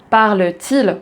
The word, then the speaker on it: parle-t-il: commence par une voyelle, on va ajouter ce T au milieu pour faciliter la prononciation et faire la liaison.